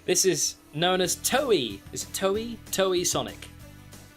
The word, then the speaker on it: Toei: This is known as Toei. Is it Toei? Toei Sonic. Is that how you pronounce it? Toei? I always pronounce it toy, but I'm pretty sure it is Toei.